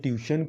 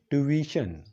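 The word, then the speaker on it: tuition: تاسو به اورېدلی وي خلک وایي زه ټیوشن کوم، ټیوشن ته ځم. خو دا ټیوشن نه دی، دا څه دی؟ ټیویشن. ټیوشن که څوک وایي نو دا د غلط تلفظ دی، غلط پرونسیشن دی.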